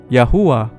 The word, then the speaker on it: Yahuwah: Jadi nama ini dibacanya Yod, Hei, Yah, Wow, Hei, Uwah, Yahuwah.